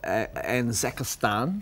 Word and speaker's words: Anzakistan: Last time you were on the show, Chopper, you were talking about the Republic of Anzakistan. Mm-hmm. Is that how you say it? Yep. Yeah, right, got that right.